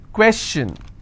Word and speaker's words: question: If I have the word question, how many syllables? 2. Question. Alright? And I will stress here.